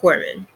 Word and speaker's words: corpsman: kind of throws you off um but it's pronounced corpsman and long story short is basically a military